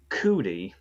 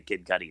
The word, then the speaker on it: Kid Cudi: Kid Cudi was um you were pronouncing his name cootie and that's how I remember hearing it way way in the long ago in the way before time but yeah I definitely would say Kid Cudi now and it's like